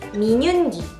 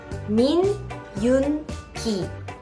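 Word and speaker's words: Min Yoongi: Next one is Minyoongi. Min-yoon-gi.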